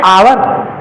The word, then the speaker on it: hour: जैसे आप कहते हो कि I will be back in एन आवर, ठीक। मैं 1 घंटे में आ जाऊंगा, HOUR। अब आप इसको हार या हावर पढ़ोगे, जो 9th-10th के बच्चे ज्यादातर पढ़ते हैं, ठीक।